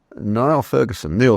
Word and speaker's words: Niall: Just last week or so, I came across the fact that Neil Ferguson, he pronounces it, but spelt Niall, has acknowledged the need